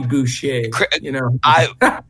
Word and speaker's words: Boucher: I'm saying it because Bobby Boucher. Coach, I believe that's how it's pronounced.